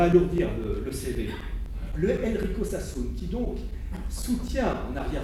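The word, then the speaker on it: Sassoon: s'appelle Enrico sassun je vous donne son nom Sassoun ça s'écrit sa a 2 S 2 O m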